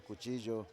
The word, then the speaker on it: cuchillo: But yes, the double L in Spanish is actually like a J, so it's Silla. yes, So Silla, cuchillo. yeah, But here, because of the Americans, you pronounce it like in English. yeah, So you say Celia, cuchillo.